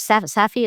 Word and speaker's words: Safdie: What so the director's last name was Safdie? Is that how you pronounce it?